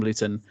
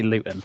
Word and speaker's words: Luton: noticed that people from Luton will put a glottal stop on the T in the middle of words. Okay, I say Luton, not Luton.